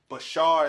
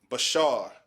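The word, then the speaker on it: בשר: zoom through um flesh bashar bashar is how you say that bashar you understand so if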